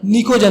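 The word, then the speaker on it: pnictogen: इसका दूसरा नाम हमेशा पूछा जाता है तो ये याद रखना, निकोजन बोलते हैं। तो क्या बोलते हैं, निकोजन, पी साइलेंट में।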